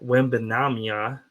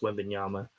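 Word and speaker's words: Wembanyama: for Dylan here um Victor wamia he can't pronounce his last name like me it's wanyama um is gonna win Rookie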